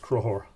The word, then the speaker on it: Conchobar: King, you would say that's Conchobar. Pronounced Crohor.